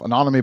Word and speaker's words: Anonyome: I said, come to the Anonyme website and you'll see a bunch of different white papers and blog articles we've written in this space.